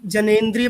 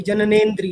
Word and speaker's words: जननेंद्रिय: मैं ये कह रहा था कि जनेंद्रिय पे बात हो रही थी, जननेंद्रिय, ठीक है? मेरा जनेंद्रिय, प्रोनाउंसिएशन गलत था।